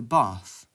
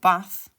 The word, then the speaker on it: bath: I would call it a bath, but people from the south would call it a bath. Linguists call this the bath trap split because trap sounds the same everywhere in England, but bath or bath is pronounced differently in the north and the south.